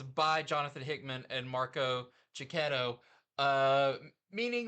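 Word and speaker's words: Checchetto: Jonathan Hickman and Marco Cicchetto. How do you say his name? Cicchetto, I think. Cicchetto. Or it may be Cicchetto, but I say Cicchetto.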